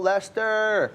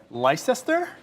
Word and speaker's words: Leicester: Because if you look at Leicester, you're like Leicester. Because that's how it's spelled. Leicester. It's not Lester like us.